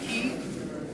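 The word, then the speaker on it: Quay: Our overflow facility is the Red Lion at the Key, and Key is spelled Q-U-E-Y.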